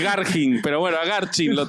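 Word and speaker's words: Garching: escuchen al lugar a garchín lo trasladaron me parece no puede ser es que es garging pero bueno a garfin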